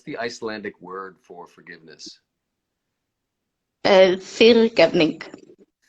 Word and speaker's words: fyrirgefning: Fyrirgefning. Say it again. Fyrirgefning.